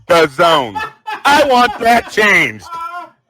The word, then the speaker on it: DAZN: Well, DAZN, which is the proper pronunciation.